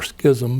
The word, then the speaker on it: schism: family became protestant and that caused a great schism or schism as some might pronounce it and uh his family fled from